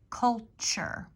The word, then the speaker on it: culture: sentences repeat after me culture this was like a CH sound where the T is culture enjoy enjoy favorites favorites